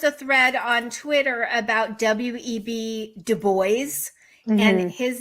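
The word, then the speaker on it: Du Bois: there was just a thread on Twitter about web de booys and his name he has ACT a document saying it's pronounced du boys and this um woman did like a podcast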